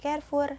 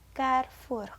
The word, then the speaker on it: Carrefour: kalian temui di Carrefour yang benar itu pengucapannya bukan Carrefour tapi Carrefour yang berarti perempatan ya roti ini bisa